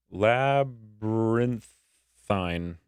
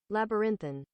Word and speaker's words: labyrinthine: So, pronounce labyrinthine. Labyrinthine.